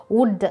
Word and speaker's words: would: இப்போது எக்ஸாம்பிள் பாருங்கள், would, WOULD, எல் சவுண்டை நம்ம சைலண்ட் பண்ணிட்டோம், டியோட சவுண்டில் தான் நம்ம ரீட் பண்ணுறோம்.